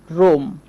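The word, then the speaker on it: room: ঠিক তেমনি করে ধরেন আমি বলতে পারি রুম, এই বানানেও কিন্তু ডাবল ও চলে এসেছে, এই জন্য উ সাউন্ড করছি।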